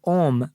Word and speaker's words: Om: is praised in chanting om comprises three syllables a-u-m in vedic tradition this